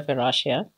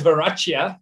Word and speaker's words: Verachia: i have said uh it's known as veracia but it doesn't sound as cool and as funky as